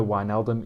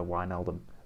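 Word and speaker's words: Wijnaldum: thunderbike sorry thunderbake uh georgina wyneldom is johnny georgina wine eldon uh north macedonia not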